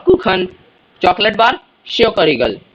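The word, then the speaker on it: Schokoriegel: कखन बना देंगे कुखा को कखन chocolate bar शयोक Regal शयोक Regal chocolate सब तो बरे सारे बच्चे दुनिया में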